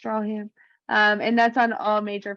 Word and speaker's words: Stracham: Looks like Stracham, pronounced Strawham.